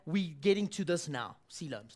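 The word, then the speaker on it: coelom: getting to this now sea looms now that's a big word it's spelled completely not like it sounds maratha yes it looks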